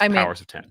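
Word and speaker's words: Powers of X: So we have to assume, since this is obviously a kind of retread or kind of homage to the beginning, and it is, that it should be pronounced Powers of 10.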